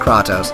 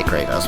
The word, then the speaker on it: Kratos: hands down it's Kratos and I know it's pronounced kraatos I wanted to say that for everyone I say it because it's funny I I know may bother you but just say Kratos because it sounds cooler and I just find